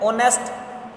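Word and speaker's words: honesty: ऑनेस्ट, ऑनेस्ट का मतलब ईमानदार, और ऑनेस्टी यानी कि ईमानदारी, इसमें एच साइलेंट है।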